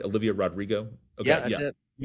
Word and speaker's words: Rodrigo: But what kind of place does Planned Parenthood have to be in where Rodrigo feels the name? Did I say her name right? Olivia Rodrigo.